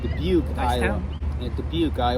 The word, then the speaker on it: Dubuque: for the first time, I did not know how to pronounce the word Dubuque. And I've been thinking the way you pronounce it is Dubuque.